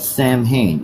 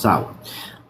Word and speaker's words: Samhain: Okay, it is pronounced Samhain. I don't know why it's pronounced Samhain. Just go with it because it sounds good. It's Gaelic. It's Gaelic.